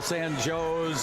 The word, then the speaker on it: San Jose: In Central Illinois, San Jose we call San Joe's, and I think there's another one.